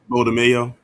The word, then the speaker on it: DeMayo: DeMayo.